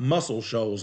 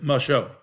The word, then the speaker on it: Muscle Shoals: how to say it it's not muscle shoals alabama it's my show if you ever if